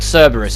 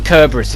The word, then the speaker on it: Cerberus: As we approach the gate of the citadel, we'll be greeted with the guard dog Cerberus, or Kerberus if you want to pronounce it wrong.